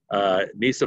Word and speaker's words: Neysa: Neysa rhymes with Lisa. rhymes with tiger. It's Neysa.